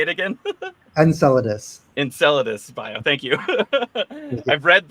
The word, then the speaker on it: Enceladus: loud how do you say it again Enceladus Enceladus bio thank you I've read the word many